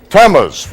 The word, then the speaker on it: Tammuz: Can anyone pronounce that for me? Tammuz. Tammuz.